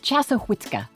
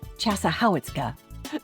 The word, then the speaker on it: Chassahowitzka: The locals say the pronunciation is Chassahowitzka, even though it looks like Chassahowitzka.